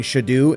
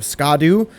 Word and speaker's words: Scadu: And if you're wondering why I'm saying Shadu instead of Scadu, because Scadu or Shadu is Old English, and that's kind of what they went off of for certain pronunciations in this game.